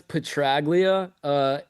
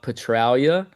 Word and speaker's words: Petraglia: Oh, it's in America, it's Petraglia. In the homeland, I think they call it Petralia.